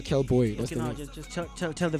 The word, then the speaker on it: KxlBxy: But if you pronounce it, it's Kelboy. Yeah, Kelboy. Okay, now just tell the viewers there one more time. If you're looking for me on IG, KxlBxy. Yes, Kelboy.